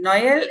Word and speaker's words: Noël: Noël is Christmas in French. So O and E, you have to produce separate sounds for that.